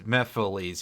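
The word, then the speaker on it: Mephiles: off of Mephistopheles so it's just pronounced like Mephistopheles but with the missing uh phonemes and syllables yeah we'll just be syllables because it Mephistopheles versus mepholese yeah would just be two syllables taken out no extra sounds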